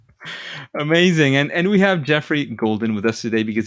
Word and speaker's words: Geoffrey: background and how how that's used absolutely uh Jeffrey is how it's pronounced yeah like uh let's see in the